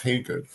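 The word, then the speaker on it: Hagood: g o o d it spelled every kind of numerous way that you can think of but it's pronounced hey good um back on the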